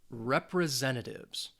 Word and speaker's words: representative: and the Olympic competition it has five syllables and the stress is on that third syllable that Zen that s has it more of a Z sound representative representative representative and